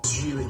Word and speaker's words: Geely: Geely, by the way. Friggin' atrocious. My name is pronounced Geely. It rhymes with really.